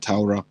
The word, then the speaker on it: Torah: That's how you pronounce it, Torah.